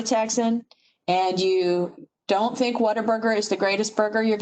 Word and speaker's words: Whataburger: And it's what a burger, not water burger, which I thought it was at first when I first moved here.